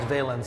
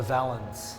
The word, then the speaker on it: valance: I didn't know it was actually pronounced valence. I've always called it a valance.